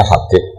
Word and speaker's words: Habib: Itu di harokatnya kitab itu ada yang nulis Subhan. Yang benar, yang benar itu bacanya Habib. Habib itu As-Sulami itu ikut marga Robi'ah.